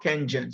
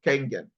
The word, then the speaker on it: Kangen: So when you get to hear Kangen water, not Kengen, some people pronounce it as Kengen, it's actually Kangen.